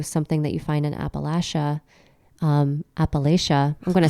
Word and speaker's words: Appalachia: I grew up in Appalachia. I think I'm saying it wrong, and I should be saying it Appalachia.